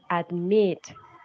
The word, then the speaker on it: admit: Or admit. You have to notice that the last syllable is the one that is stressed. You say admit, no admit. Admit.